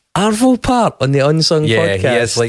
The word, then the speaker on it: Arvo Pärt: Arvo Pärt. No, wrong in both counts. Wow. Perfect score of 0 there. Nice. So it's Arvo, not Avro.